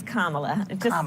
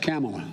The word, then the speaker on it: Kamala: name for me please it's kamala yeah just think of like a comma and add a lot okay well did joe